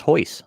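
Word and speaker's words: Royce: you got portuguese uh the man spells his name r-o-y-c-e it's pronounced hois so yeah that's ours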